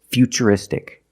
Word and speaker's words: futuristic: the T as CH and we see t r i in futuristic again the t is pronounced with the CH sound so the first word future and the second word is futuristic future is a noun